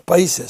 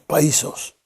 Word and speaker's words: països: manera un poco rara con la pronunciación también se habla de los països catalanes no los países sino los països quiere decir que el